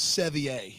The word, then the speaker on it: Sevier: Who I believe they've told us is Sevier is how that name is pronounced.